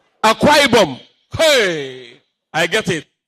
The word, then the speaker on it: Akwa Ibom: Is that the pronunciation? Akwa Ibom. Akwa Ibom. Hey, I get it. Akwa Ibom.